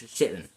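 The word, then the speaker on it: Chittenden: and one was elected twice which was thomas chitten and yes that's how you say its name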